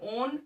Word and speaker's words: own: HIS हिज, OWN ओन, FACE face, ON इसमें W जो है वो साइलेंट होगा बेटा, ठीक है, तो बोलेंगे हिज ओन फेस।